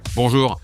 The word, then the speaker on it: bonjour: nasa France tayo okay kaya yung tunog na on Hindi iyan un kundi on Ayokong makarinig ng n